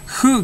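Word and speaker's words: ふ: Terus fu juga ya, fu-nya itu bukan fu ya, bukan fu, mungkin dituliskannya fu, tapi sebenarnya pelafalan antara F dan H ya, kayak gitu, hu gitu ya, hu, ha, hi, hu, he, ho gitu ya.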